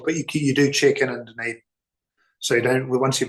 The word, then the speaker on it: Dunedin: Is that how you pronounce it? No, that'll do though. Okay. Dunedin.